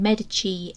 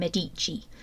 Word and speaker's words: Medici: the House of medich I am also likely to switch between saying medii and medich I've heard it pronounced both ways so I think we can get away with saying it both ways the medich family originated